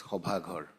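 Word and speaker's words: সভাঘৰ: In Assamese, it is pronounced as Hobhaghar.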